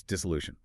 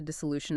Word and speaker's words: dissolution: Then there's dissolution.